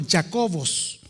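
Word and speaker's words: Ἰάκωβος: escrito en griego y en griego el nombre de Santiago se se pronuncia como jacobos debido a eso Nosotros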